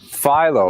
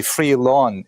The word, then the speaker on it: Philo: Second, audience, how would you like to pronounce his name? Philo. Philo, right? Like the dough rhymes with Milo, right? That certainly makes sense, and that's corroborated by all the websites I could find that tell you how to pronounce Philo. In Greek, it's clearly Philo. It's actually philon in Greek with an N sound at the end.